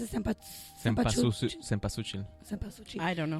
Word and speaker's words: cempasúchil: The cempasúchil, right? I think those are yeah. well. Yeah, the orange ones, yeah. Yeah, that's how you pronounce it. Cempasúchil.